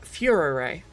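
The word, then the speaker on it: Führer: Oh, and to any other British English speakers watching this, we spell the word like this and pronounce it Furer.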